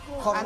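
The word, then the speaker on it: Courrèges: ¿Cómo lo pronuncias en francés? Corrueges.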